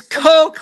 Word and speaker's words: Kok: It's Coke like the soda.